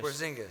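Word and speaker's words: Kristaps Porziņģis: Porzingis.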